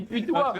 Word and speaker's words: putois: Ça se dit putois. On se fait avoir par le chat. Ça se prononce pas En pétoie.